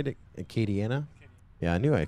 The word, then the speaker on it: Acadiana: race yes Acadiana is that he say to Acadiana yeah I knew I said it right it's Chris Thomas who messes it up I say it right Kady Anna FPV gonna be hosting a 12 hour team